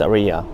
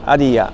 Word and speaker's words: Ariya: the case with this Aria by the way um we call it Aria in English but in Japanese is Arya so a little bit of different pronunciation but this one is